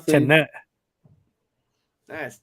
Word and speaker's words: Tenet: Tenet. That's Tenet. Tenet. It's Tenet. Well, you pronounce the T either way. It's not silent.